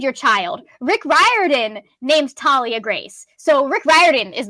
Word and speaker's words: Thalia: because you named your child rick riordan name's Talia grace so Rick Riordan is the one that I listen to would find to pronounce her name but that's how you pronounce